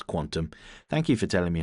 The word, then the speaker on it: qntm: I'll pronounce Quantum.